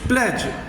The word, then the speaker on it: pledge: दस he kept his प्लेज। देखो बच्चों, ये PLEDGE है, डी नहीं बोला जाएगा इसमें, डी साइलेंट रहेगा।